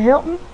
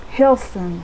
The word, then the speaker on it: Hilson: Is it Hilton? Hilson, excuse me.